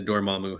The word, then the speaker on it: Dormammu: Dormammu.